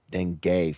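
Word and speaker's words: dengue: How do you type in how to pronounce denge? You can get severe denge. It's like deni deni for real.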